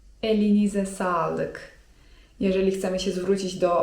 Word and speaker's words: elinize sağlık: eline salyk) To jest mniej formalne, a bardziej formalne: elinize sağlık (czyt. elinize salyk) Jeżeli chcemy zwrócić się do osoby starszej to lepiej tej formalnej, drugiej wersji użyć.